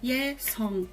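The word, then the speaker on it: 예성: Só que na batim também tem a bolinha. Só que quando a bolinha tá numa batim, ela é uma consoante mesmo, que seria esse NG que a gente vê romanizado. E é o mesmo NG do inglês praticamente. Nós vai falar jovem, young. Então, é esse on. Então, song.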